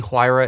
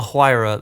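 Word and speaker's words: Huayra: I'm a bit biased to this The Pagani huira is my favorite car so it's just so that's just great sorry not the hirra the it is it's spelled h u a y r a the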